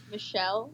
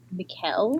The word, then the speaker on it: Michele: Michelle. Michelle Soavi. I mean, it's spelled like Michelle, but it's probably Mikel. Michelle. That's Italian.